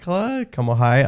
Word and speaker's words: Kamohai: Kamohai.